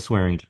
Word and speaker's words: Swearingen: Am I pronouncing his name correctly? Dylan Swearingen.